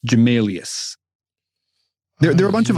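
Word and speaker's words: Gmelius: fantastic so what is the how do you spell that uh g m e l i u s jamalius there are a bunch of other uh cool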